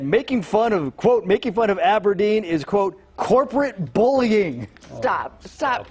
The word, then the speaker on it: abrdn: You see, Aberdeen used to be called Standard Life Aberdeen, but in 2021, they changed their name to ABRDN, which they insist is pronounced Aberdeen.